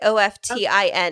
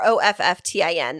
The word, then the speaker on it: often: I say often, like OFTIN is how it's like or OFFTIN. That would be like my pronunciation, often.